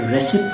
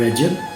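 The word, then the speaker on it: Recep: है रेसिप Tayyip Erdogan, लेकिन जो सी है वो य के तौर पे यूज़ होता है और पी है वो ब के तौर पे यूज़ होता है और जी साइलेंट होता है, लिहाजा रेसिप नहीं रजब तय्यब अर्दोगान।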